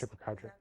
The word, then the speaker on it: chupacabra: Chupacabra. Yes. Chupacabra.